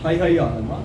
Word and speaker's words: Haihaya: How do you pronounce it? Haihaya, of the Haihaya kingdom.